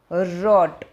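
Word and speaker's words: wrote: आई रॉट N email, मैंने email लिखा, रॉट। ठीक है, इसमें डब्ल्यू का उच्चारण नहीं है।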